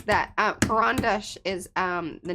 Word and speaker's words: Karandash: Panka says that Karandash is the name of a pencil from Russia. Pronunciation is A like apple. Karan.